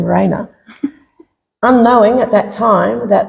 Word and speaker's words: Reina: it to the name Reina, unknowing at that time that the way it's spelt and the way it's pronounced is actually the Spanish word for queen.